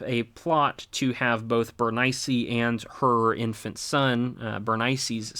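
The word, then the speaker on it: Berenice: Ptolemy II's daughter Bernice, or Bernice is probably how it's actually pronounced, is sent up to Antiochus II for them to marry and have a marriage alliance.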